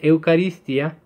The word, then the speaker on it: Eucaristía: Es Eucharistia y se pronuncia Eucaristía y significa acción de gracias o dar gracias.